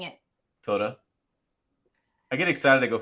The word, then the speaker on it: Toyota: Toyota. I was reminded today is a 3-syllable word. Toyota. How are you saying it? Toyota.